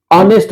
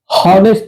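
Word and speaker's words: honest: ए एन एयर एस ए उसके बाद एन ऑनेस्ट मैन हनेस्ट नहीं कहते हैं हम लोग ये मत कह दीजिएगा हॉनेस्ट मैन होनेस्ट अगर होनेस्ट उच्चारण करने लगगा तो एच हो जाएगा क्योंकि हगा इसलिए एच साइलेंट हो जाता है ऑनेस्ट मैन हो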